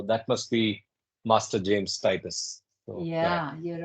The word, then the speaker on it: Titus: true Titus Master James Titus is another sincere Titus Titus Titus is the way pronounced yeah Master James tius so if you